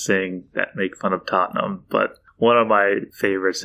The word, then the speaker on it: Tottenham: tottenham but it's pronounced tottenham yeah just two syllables tottenham uh what do you